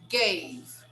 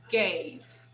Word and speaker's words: gave: And here, gave, gave. The final vowel is silent.